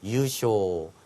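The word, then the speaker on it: 優勝: 우승을 유쇼, 배우를 하이유까지 챙겨두시면 되겠습니다.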